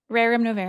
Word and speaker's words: Rerum Novarum: Kaitlyn, and the correct pronunciation is? Rerum Novarum. Oh, you got it.